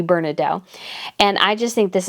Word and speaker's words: Bernadotte: I think some people pronounce it Bernadotte, but if it's French, it should be Bernadotte.